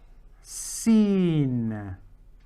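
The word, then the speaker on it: س: for everyone watching ing the next letter is seen seen okay so it's got three little strokes and then there's a belly coming down seen exactly the same as the s in the English language and its counterpart is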